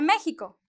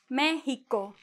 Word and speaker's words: México: Yeah, it is not an X and it is not an S. It is a kind of a J in Spanish, like, or if you want to put it in English, it's like the H, right? México.